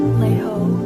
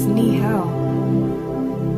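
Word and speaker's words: 你好: Lei ho. What does that mean? It means hi. No, you pronounced it wrong. It's ni hao.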